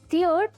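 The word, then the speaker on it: tear: अगला होमोग्राफ है टीयर या फिर टेयर। अगर हम इसे टीयर प्रोनाउंस करते हैं तो ये बन जाता है एक नाउन जिसका मतलब होता है आंसू।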